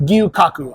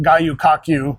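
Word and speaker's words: Gyu-Kaku: again one more time gyu Kaku I believe I'm pronouncing it correctly but I'm I don't have a gyu dash Kaku k-a-k-u yeah and it's funny I've walked past this before I've heard people call it guyukaku and it's like it's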